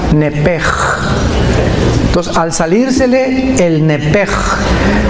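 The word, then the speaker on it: נפש: así como suena nepesh, en el hebreo se pronuncia ch como j, nepej.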